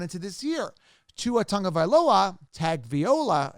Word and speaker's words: Tagovailoa: Tua Tagovailoa, Tagovailoa, as I say, that's how it looks and should be pronounced. Tagovailoa, right?